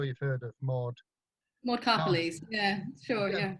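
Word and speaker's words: Karpeles: And that was collected by, I'm not sure how to pronounce this lady's name, I think it's Carpels, but I'm sure you've heard of Maud. Maud Carpelese, yeah, sure, yeah.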